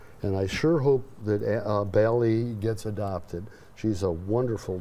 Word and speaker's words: Bally: Bally rhymes with Allie.